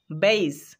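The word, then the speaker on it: base: শেষে পাচ্ছি ই, তাই এখানে বি এ এর উচ্চারণ করতে হবে বেই, আর এস ই স, বেইস, মানে ভিত্তি বা ঘাঁটি।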